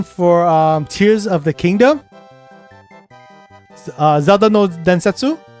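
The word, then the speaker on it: ゼルダの伝説: Zelda no Densetsu. So that's how you say it in Japanese. Zelda no Densetsu.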